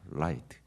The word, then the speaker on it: light: light. L로 시작하죠. R이 아니라 light.